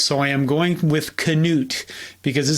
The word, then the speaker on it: Knute: This is my first video mentioning Knute Rockne.